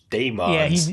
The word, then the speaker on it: Dæmons: The doctor pronounced it Dæmons. Yeah. So we'll go with that.